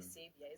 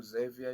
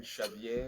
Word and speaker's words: Xavier: There's usually a mispronunciation of your name. Some people say Savior. Xavier or Xavier? You can do Xavier, you can do Xavier, you can do Shaveier, you can shave.